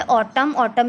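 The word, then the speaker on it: autumn: Next है ऑटम में N silent है, शुड में एल साइलेंट, डेट में बी साइलेंट, हाइम में एन साइलेंट।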